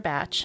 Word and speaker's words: Bach: know I keep saying Bach in my head and I have to correct myself and say no it's batch it's batch it's bad it's bad